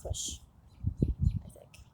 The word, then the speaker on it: Cush: there flowed around the entire land of Cush that's how you pronounce it the third branch called the Tigris